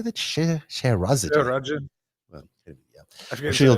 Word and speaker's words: Scheherazade: Scheherazade.